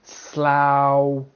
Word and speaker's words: Slough: Ow, like in slough, plow, drought, drought. The GH is silent.